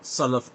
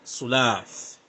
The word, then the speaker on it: Salaf: the Sulaaf the Salih, that he cannot pronounce the word Salaf correctly. It's not Sulaaf.